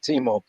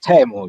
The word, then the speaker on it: Teemu: you with us uh timo or table i think the right pronunciation is tamu yes how are you